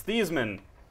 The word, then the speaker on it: Theismann: changes 4,000 this name didn't change in spelling but rather how you say it as part of this man's Heisman Trophy campaign when is Joe Theismann Joe Theismann what I'll